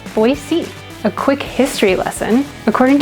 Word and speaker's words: Boise: the city of Boise says it should be pronounced. And it's Boise.